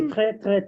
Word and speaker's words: joue: That is joue, joue. Why? Because the moment you drop the ER and you put an E, it becomes joue.